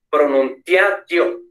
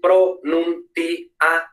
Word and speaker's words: pronuntiatio: Esto, leyéndolo así españolizado, diríamos pronuntiatio, pronuntiatio, cuatro sílabas. No, en latín es pronuntiatio, seis sílabas, ¿vale? ¿Por qué? Porque ia, io, es ae, oe, au, no. Entonces no son diptongos, entonces son hiatos, dos sílabas separadas.